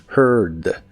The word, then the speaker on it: heard: más atrás que puedas y debe sonar como monstruo. Heard.